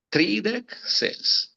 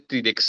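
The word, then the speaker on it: tridek ses: Uno 36 tridec s tridec s muito bem e não vai dizer tridex é uma tendência natural do falante da Língua Portuguesa e se você não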